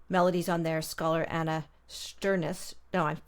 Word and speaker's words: Shternshis: one of the melodies on there, scholar Anna Shternshis. No, I'm not pronouncing that right. Shternshis?